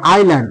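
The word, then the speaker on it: island: sound দেবে না এরকম ওয়ার্ড দেখে নাও যে আইল্যান্ড দেখ আই এস এডি দেখ এস কিন্তু কোন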